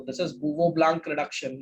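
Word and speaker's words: Bouveault-Blanc: Spelling बहुत खतरनाक है, अगर तुम जानना चाहो, किसी को इम्प्रेस करना चाहो, वो ब्लांक, यहाँ एलटी आता है, रिडक्शन। बूवो ब्लांक रिडक्शन पढ़ते, पूरा एज इट इज मत पढ़ देना, ठीक है?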